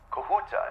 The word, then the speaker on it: Kahuta: the kahuta plant okay kahuta is that uh the correct pronunciation am I saying that right yes okay great okay pz